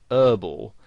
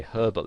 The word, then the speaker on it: herbal: they would pronounce it whereas in british english you would pronounce the h and you'd say herbal essences and you might